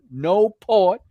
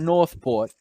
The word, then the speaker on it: Newport: My man from Newport, he was on the podcast from Newport, VA. I had to learn how to pronounce that properly. It was not Northport. It was Newport, Newport, VA, right?